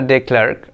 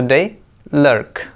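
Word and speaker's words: de Klerk: हम टीचर्स ही ऐसे पढ़ा रहे हैं बच्चों को, mister डे क्लर्क, actually this one इज नॉट क्लर्क, this one here K is silent letter, you have to read LERK, lurk, mister डे लर्क।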